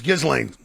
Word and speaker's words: Ghislaine: It's Ghislaine. Do you know? Oh, look at me. No, I don't. Ghislaine?